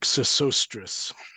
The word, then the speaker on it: Sesostris: Cicerate, Senriset, pronounced in Greek Sesostris, Okay.